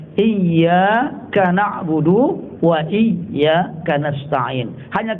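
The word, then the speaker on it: إِيَّاكَ: Itu bacaannya pakai tasdid kan Pak? Iyyaka na'budu wa iyyaka nasta'in.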